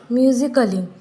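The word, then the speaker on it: musically: ए silent होता है for example म्यूजिकली म्यूजिकली में हम इस ए का प्रोनाउंस नहीं करते हैं उसके बाद फिजिकली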